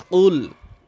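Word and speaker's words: قُلْ: কুলহুয়ল্লাহু আহাদে এখানে কিছু নিয়ম রয়েছে আমি সেগুলো বলছি কফলাম পেশ কুল এবং বানান করব আমরা সকলেই বানান করে সূরাটা শিখব বড়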